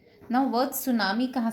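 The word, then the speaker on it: tsunami: Now word सुनामी कहाँ से आया? वर्ड सुनामी आया जापानीज लैंग्वेज से। सु, टी साइलेंट होता है, सु मतलब हार्बर और नामी मतलब वेव।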